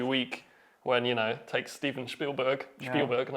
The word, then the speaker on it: Spielberg: I mean, how do you manage to produce like a 20-minute video every week when, it takes Steven Spielberg, and I'm pronouncing it in German way, Spielberg, years to produce his ET or whatever?